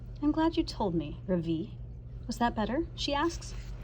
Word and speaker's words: Ravi: voice quivering a little my name is not ravi it's pronounced ravi oh oh my gosh